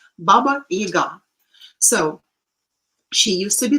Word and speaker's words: Baba Yaga: for example, this Baba Yaga. We call him Yaga, and somehow it is the stress is falling on the first syllable, which is wrong. Baba Yaga.